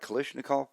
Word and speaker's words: Kalashnikov: Kalashnikov.